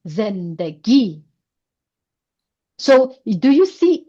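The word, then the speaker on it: زندگی: This is short vowel of e z then first syllable zen. Second syllable d and last syllable g. Zen G. Zen G.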